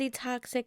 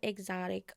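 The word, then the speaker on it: E-Toxic: That's not how you say my name, it's e toxic not exotic, okay?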